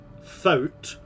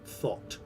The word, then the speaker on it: thought: Okay, so this is either going to be foot, thout, or thoft. Neither. It's thought.